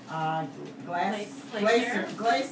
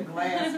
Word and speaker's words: Glaser: Healthcare Coalition, and Lara Glaser. I still want to say Glass because it's G-L-A-S. Okay, Glaser, I love that pronunciation of the Early Learning Coalition of Flagler and Volusia counties.